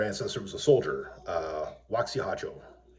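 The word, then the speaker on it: Waxy Harjo: And I have one other ancestor who was a soldier, Waxihajo. It's spelled Waxy-Harjo, but that's not really how you pronounce his name. So, Waxihajo.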